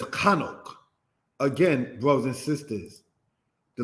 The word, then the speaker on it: Hanok: Hanok, said in the language as Chanok.